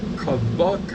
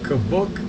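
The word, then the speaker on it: Kobuk: leave them at home the third is kabuk and I'm pronouncing it's spelled k-o-b-u-k kabuk Valley National Park it's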